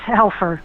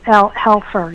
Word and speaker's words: Helfer: It's Helfer. A lot of people switch the F and the L, so it's Helfer. Yeah. Helfer.